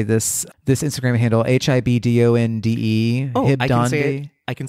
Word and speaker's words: Hibdonde: don't know how to say this Instagram handle, HIBDONDE.